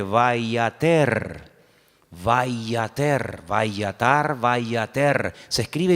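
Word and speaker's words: וַיֵּעָתֶר: Es la misma palabra, pero se pronuncia de una forma diferente, vayater.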